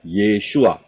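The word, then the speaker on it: ישוע: paling kiri adalah Ayin Yod Shin W Ayin itu bacanya yesua Ya kalau saudara lihat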